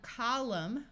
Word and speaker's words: column: hear the n Sound here we have column with a silent n and when we add